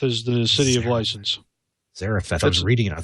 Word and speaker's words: Zarephath: Zarephath is the city of license. Zarephath.